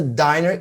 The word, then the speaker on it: diner: The word diner is spelled D-I-N-E-R, which is similar but different from the word dinner, the meal. You know, I have breakfast, lunch, and dinner. So the word dinner is D-I-N-N-E-R. And the pronunciation is also different.